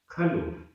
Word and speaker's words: खलु: हेदु सो सो भाव संवरो खलु खलु। यहाँ ऊ की मात्रा छोटी है, खलु।